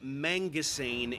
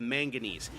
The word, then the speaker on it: manganese: He's saying mangane instead of manganese.